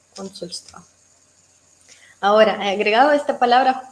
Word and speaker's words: Консульство: Consulstva. Con el acento a la primera sílaba. Consulstva.